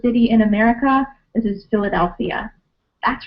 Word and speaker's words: Philadelphia: even um when when locals are pronouncing the full name of the city they say it a little bit differently we sometimes say fluffia I'm from fluffia Pennsylvania so instead of saying Philadelphia very clearly we might say we